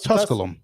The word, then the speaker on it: Tusculum: Is it No, it's Tusculum.